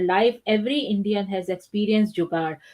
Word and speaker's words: jugaad: At some point in their life, every Indian has experienced jugaad. Pronounced jugaad, it is a Hindi word about innovation and creativity in all areas of life.